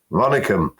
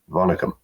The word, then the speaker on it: Vanakkam: Vanakkam. It's from It's from Tamil Nadu in in South of India, and I just said hello or goodbye in Tamil, Vanakkam.